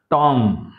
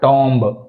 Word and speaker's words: tomb: here B pronunciation లేదు మనకు చూడండి ఇందులో ప్రొనౌన్సియేషన్లో టామ right so only టామ నాట్ టాంబ్ బో అనకూడదు రైట్ టామ క్లైం క్లైం క్ ల